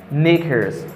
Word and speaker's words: knickers: After that, I have knickers.